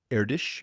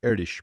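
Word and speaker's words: Erdős: His name is Paul Erdish, I believe is the pronunciation, and basically has a collection of open math problems referred to as the Erdish problems.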